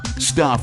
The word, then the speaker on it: Stuph: Stuph is spelled S-T-U-P-H.